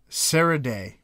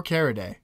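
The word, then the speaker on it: Caridea: Because if you do, it's Ceridae or Caridae, depending on how you pronounce that first C. It's probably a soft C.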